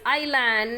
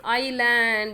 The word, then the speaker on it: island: Yes, what is island? Next is island. Yes, yes is silent.